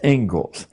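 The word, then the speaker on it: Inglis: the Engles lecture looks like English but it's pronounced Engles and I would like to read you the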